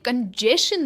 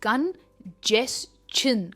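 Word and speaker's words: congestion: ये कंजेशन नहीं है, इट इज कंजेशन. कंजेशन, और स्ट्रेस जो है जेस पर आता है.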